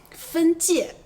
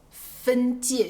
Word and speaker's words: 分界: 分界和分解这两个词音调不同，你要注意一下。